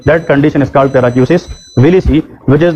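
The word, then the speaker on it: paracusis willisii: उस कंडीशन को कहते हैं पैराक्यूसिस विलिसी। उसका नाम क्या है, पैराक्यूसिस विलिसी। अगर किसी ने लिखना है, मैं स्पेलिंग बताता हूँ, PARACUSIS, PARACUSIS, पैराक्यूसिस।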